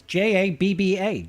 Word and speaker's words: Jabba: says Jabba is hilarious I pronounce it correctly it's j a BBA Jabba I just don't have an American accent so I don't sound like Jabba Jabba usually folks ask about